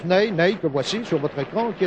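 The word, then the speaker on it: Nené: avançant entre brésilien n'aille cela s'écrit comme notre maréchal n'est mais ça se prononce name voici sur votre écran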